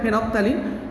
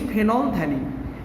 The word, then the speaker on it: phenolphthalein: এটা হচ্ছে ফেনলথ্যালিন। অনেকে এটা ভুল উচ্চারণ করে, ভুল প্রনাউন্সিয়েশন করে, রং প্রনাউন্সিয়েশন করে, ফেনপথ্যালিন, বাট ইট ইজ নট ফেনপথ্যালিন। This L is not silent, rather this pH is silent, because thalic acid precursor